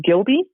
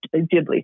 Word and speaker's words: Ghibli: i'm going to butcher the name gilbee uh like with ghibli thank you it was like